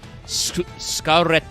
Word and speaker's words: Scar Red: I think it's supposed to be Scarlet, but also it's pronounced Scarredo. Sorry, I couldn't say the double D. It's not a T. It's a reddo. So it's like scarred, but also scar red.